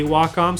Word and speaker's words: Wacom: how to pronounce waka i think the the people that actually own the company and run the company say wacom so that's what i say i don't really like